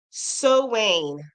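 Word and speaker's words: Samhain: Pronounce Sowain.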